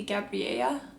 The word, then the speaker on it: Gabriella: However, since his family is from Mexico, the pronunciation for it is very different. It'd be Gabriella because double L makes a y sound.